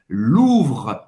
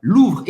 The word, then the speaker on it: Louvre: Para pronunciar esse OU em francês, tem o som da letra U em português, então é simples, U. Agora você vai ter que arranhar um pouquinho a garganta com esse R, Louvre, Louvre, e acabar no R, você não vai ter que pronunciar o E no final, le Musée du Louvre.